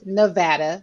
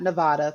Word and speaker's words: Nevada: Las Vegas, Nevada, not Nevada, for those of y'all who don't live in Nevada and you What's that, like mispronounce a it.